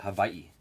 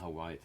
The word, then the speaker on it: Hawaii: It's weird they call it Hawaii. It's not Hawaii.